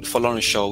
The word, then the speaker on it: Folorunsho: And instead of calling Folorunsho, which is the actual, you know, pronunciation of my son name, they just call Folley, Folley, Folley, Mr.